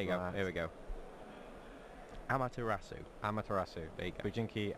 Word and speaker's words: Amaterasu: Bujinki Amaterasu. Amaretto. Not Amaretto. Do you want to bring the card up on screen? Yeah, I will do that. There you go. Here we go. Amaterasu.